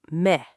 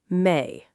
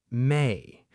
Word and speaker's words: may: Many learners pronounce it like me. Not quite. Listen carefully. May. May.